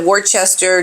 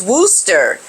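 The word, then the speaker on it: Worcester: as she arrived at Worchester to open a new $35 million A&E unit my goodness well excuse me for the mispronunciation pronunciation of this word is Wooster that's the American and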